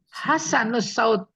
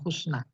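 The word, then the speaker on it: حسن الصوت: nih Apa bacanya nih hasanus Saud orang yang bagus suaranya jadi bukan Husna Hasan orang yang bagus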